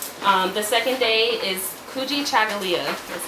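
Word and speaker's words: Kujichagulia: which means Unity um the second day is kuji chagala that's how you pronounce that um which means self-determination ujima is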